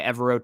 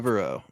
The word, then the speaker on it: Evero: I might be pronouncing the first name somewhat incorrectly as well, but Ejiro Evero is how I've always said it. Forever Evero has been my little monicum to remember how it is.